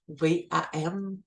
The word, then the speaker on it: VAM: Ensuite, le chakra chakra sacré, ça va être le VAM, V-A-M, VAM. Fait que des fois, juste le fait de le prononcer, VAM, ça va vraiment venir aider à le rééquilibrer.